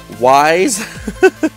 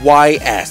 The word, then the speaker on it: Ys: Ys was through him, the official way, and I always called it, like everybody else called it, Wise. Because all you spell it is Y-S. That's it, Wise, So Ys.